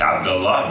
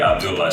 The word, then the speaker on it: Abdullah: So my name is Abdullah. Like in my language in Arabic, we pronounce it Abdullah, but if you heard it before, it would be Abdullah.